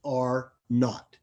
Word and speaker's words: R naught: contagiousness is r naught it's a capital r with a subscript zero but it's pronounced are not and the definition is